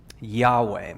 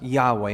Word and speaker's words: Yahweh: today we have the next word which is yahweh that's how you pronounce those four consonants that are put together no vowels in there for a very good reason but it's pronounced yahweh and it means well we're going to get